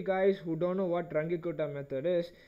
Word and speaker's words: Runge-Kutta: for time marching Carla's rk4 method or the runge-kutta method no people's parents at different man different